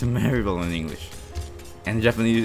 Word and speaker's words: Maribel: Mary Berry, and in Japanese it's pronounced like Maeri Berry, and it's really weird. No, I think in English it's actually pronounced like Maribel. Yeah, it's Maribel in English, and in Japanese it's Maeri Berry.